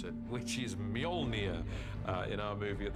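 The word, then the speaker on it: Mjölnir: a hammer is to work out how to pronounce it which is mjolnir uh in our movie at the moment until somebody corrects me i'm sure they will uh mjolnir the hammer this awesome weapon for thor extraordinarily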